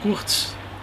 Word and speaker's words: Kurc: Meu nome é Kurtz, aliás se escreve K-U-R-C.